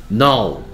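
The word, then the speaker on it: know: 계속해서 now. K-N-O-W.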